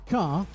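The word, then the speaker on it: T'kr: is his name is takar um how you say it takar takar yeah it's spelled t apostrophe k r oh a car yeah but it's pronounced tar and some say when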